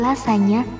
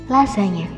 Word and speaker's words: lasagna: Pasti selama ini sering kamu sebut menjadi lasagna atau bahkan benar-benar seperti penulisannya yaitu lasagna. Menu satu ini harusnya kamu sebut lasagna.